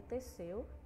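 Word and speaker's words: Teseu: jovem era de seu como não é o português a gente pronuncia dessa forma Essa palavra não é de portuguesa do grego então a gente pronuncia apesar de só ter um essa a gente fala assim devido não ser do Brasil certo é esse jovem era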